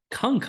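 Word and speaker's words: Cunk: give a watch uh closer to Christmas is Kunk on Christmas h on Christmas started watching that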